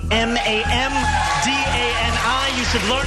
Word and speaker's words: Mamdani: The name is Mamdani. Mamdani.